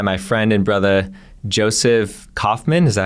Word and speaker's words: Kauffman: Today, I'm excited to be joined by my friend and brother, Jospeh Kauffman.